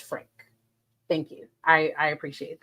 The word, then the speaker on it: Franke: uh oh, it's just Frank. Okay, thank you. Thank you. No, no context. Uh you don't pronounce the e, so it's just Frank.